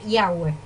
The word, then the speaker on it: Yahweh: Así escrito, se pronuncia Yahweh.